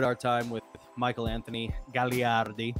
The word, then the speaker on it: Gagliardi: We really enjoyed our time with Michael Anthony Gagliardi. Gagliardi.